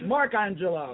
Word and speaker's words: Mark Angelo: testosterone creates character named bucking they got my name wrong it's markangelo this is perfect dysfunctional match for loopez after